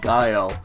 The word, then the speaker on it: GEIO: so this is expelled GE IO pronounced guile a first-person shooter battle